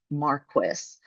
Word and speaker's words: Marquis: And yes, it is pronounced Marquis.